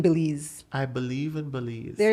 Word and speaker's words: Belize: Y'all always say Belize and it irks me every single Really? time. Can we go Belize? I understand because it's spelled B-E. Okay, and so do you it think again it's for Be? me. Say I believe. I believe. I believe in Belize.